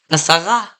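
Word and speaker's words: עשרה: The masculine form is asara, asara. No segels here, so the stress is on the last syllable.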